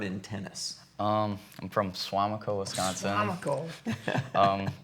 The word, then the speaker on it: Suamico: got your start in tennis um I'm from suamico Wisconsin I'm Nicole um it's a suburb of